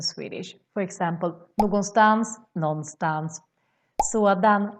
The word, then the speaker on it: sådan: For example, någonstans, någonstans, sådan, sån, and more.